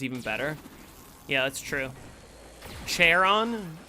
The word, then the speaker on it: Charon: Charon? I don't think you pronounce it with a ch sound. I think it's a k.